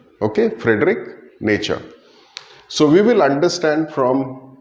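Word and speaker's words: Nietzsche: Well, the spelling might look a little uh intimidating to you, but that is how we pronounce it. It's nature. Okay, Frederick nature.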